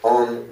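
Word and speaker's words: を: The first pronounced, frequently romanized, the first pronounced O, frequently romanized, wo, is a grammatical particle designating the word it follows as the recipient of the action that follows.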